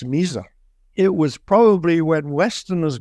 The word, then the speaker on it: Misr: Yeah, Mizar. Usually, if you spell it in English, it's usually MISR.